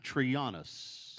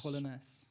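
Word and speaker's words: Trollenäs: Am I pronouncing these right? Yeah. Really? Alinge. Yeah. And then Trianus. Trollenes.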